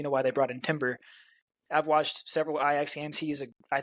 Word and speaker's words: Timber: Ben White over there he's saying it right Timber at the right who's gonna play right back